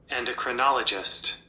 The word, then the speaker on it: endocrinologist: s t and this is how it is pronounced endocrinologist endocrinologist an endocrinologist is a medical specialist who